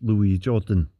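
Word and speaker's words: Louis Jourdan: the correct pronunciation of his name is Louis Jordan he was part of the French Resistance during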